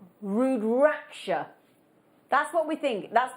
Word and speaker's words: rudraksha: are now we're calling these we hope we're pronouncing it right rudraksha that's what we think that's what we think